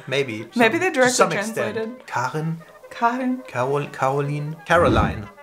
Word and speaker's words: Karin: We pronounce the I like an E, so it's like double E. Karin.